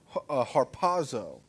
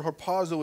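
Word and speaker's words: ἁρπάζω: Those two words are the English translation of the Greek word harpazo. If you want to know how to spell it, it's H-R-P-O-Z-O, harpazo.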